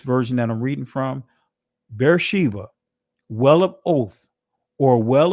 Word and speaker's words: Beersheba: Wherefore he called that place Beersheba. In other words, Ba'ar Shabai. Ba'ar Shabai or Shabai, however you want to pronounce it. Ba'ar Shabai or Shabai. That's the ancient pronunciation of Beersheba, right?